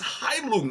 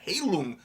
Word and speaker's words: Heilung: Even the Heilung is Heilung, not Heilung.